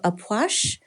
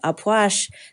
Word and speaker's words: Ah Puch: masculine energy we have aash wow that is not the way I would think that that's pronounced um the key word